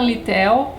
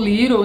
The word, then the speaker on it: Littell: de um cara chamado jonathan littell ou liro é depende ainda da pronúncia que você preferir chamado as benevolentes e